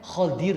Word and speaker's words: Khadir: Bukan Khidir sebetulnya, ejaannya Khadir, Pak. Kalau tidak salah Khadir, bukan Khidir yang terkenal itu Khadir.